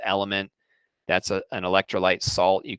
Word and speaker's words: LMNT: in the water lmnt which just is pronounced element that's an electrolyte salt